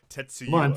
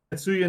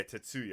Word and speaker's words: Tatsuya: even pretend to try tetsuya try close tetuya tatsuya naido yeah tatsuya I don't know why I added the extra syllable tatsuya naido all right